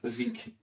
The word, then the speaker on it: Vabysmo: That's how you pronounce that word, Vaseek.